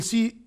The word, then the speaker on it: ث: We'll see words now. And I hope you noticed and you concentrated with me when I said Se, stick my tongue under my upfront teeth.